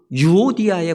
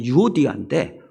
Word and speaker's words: 유오디아: 바로 빌립보 교회의 순두계와 유오디아에 관한 소식입니다. 이 두 사람은 그 교회의 기둥과도 같은 사람입니다. 야긴과 보아스처럼 예루살렘 교회의 두 기둥과도 같은 사람, 바로 이 두 사람 순두계와 유오디아인데 이 두 사람이 서로 갈등하고 분열하고 싸운다는 거예요.